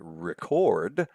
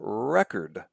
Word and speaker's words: record: There are two ways you can say that word. You can say record or record. Notice they're spelled exactly the same way, but in one